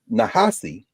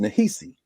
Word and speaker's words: Nehisi: So Nahasi, as he would say it, is spelled with an I, because typically it is pronounced Nahisi.